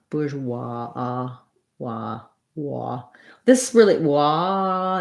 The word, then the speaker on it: bourgeois: bourgeois this really wa it's kind of in between and ah and an aw i would say somewhere on that spectrum because the w makes it kind of rounded but then we do end up with sort of more of an open ah bourgeois bourgeoisie um i heard